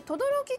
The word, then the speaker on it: 轟: てみましょうねこれで轟きって読むのが面白いですよねね変わってます